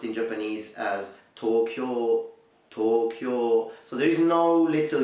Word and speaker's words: Tokyo: pronounced in Japanese as Tokyo Tokyo so there is no little you there you don't really say Tokyo but you simply say tall cure so the O is long but not O Okay